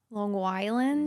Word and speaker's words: Long Island: Oh, I'm told you do the hard G there. Long Island.